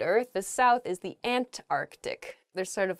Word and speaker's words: Antarctic: saying this word quickly you might leave out that first c in the antarctic so don't say that don't do that say